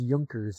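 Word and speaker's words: Junkers: Oh, pronounced Yunkers. It's German, so they're accurate. Following a German Japanese collaboration. Late 20s, 29s, early 30s. There you go. Fabric. Yes. Okay. Yunkers.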